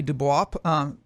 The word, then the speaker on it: Du Bois: Du Bois is how he pronounced it, published Black Reconstruction in America, a